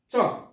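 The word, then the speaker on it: chalk: তারপর হচ্ছে চক, সি এইচ এ এল কে, চক। এই চক শব্দের অর্থ হচ্ছে খড়ি, খড়ি, এখানে কিন্তু এলটা সাইলেন্ট হয়ে গেছে।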